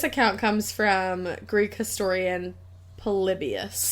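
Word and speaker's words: Polybius: How do I pronounce his name? Exactly how you did. Palibius.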